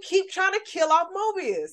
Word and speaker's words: Mobius: Our good sis that was in Secret Invasion dying in the first episode, or Morbius? Mobius, excuse me. Let me say his name right.